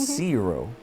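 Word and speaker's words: Curo: for me phonetically, so it's Zero. Zero? Zero. Like Zero? C-U-R-O, yes. Zero? Yes. Like C-U-R-O? Yes. Like. How many more times? Yes. Okay. You know, row could be short.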